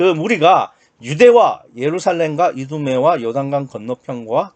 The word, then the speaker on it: 이두메: 이두메라는 거는 이제 헬라식 발음이고요. 히브리식 발음을 하면 에돔입니다. 에돔 하면 뭐가 생각납니까?